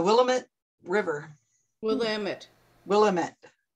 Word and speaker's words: Willamette: river we'll am it willamette willamette damn it oh that's an easy way of remembering it huh it's the brunette rhymes with damn it with lamit oh me